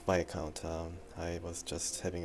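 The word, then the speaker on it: Viscount: have to apologize for my um mispronunciation of the p account or as it is correctly pronounced V count um I was just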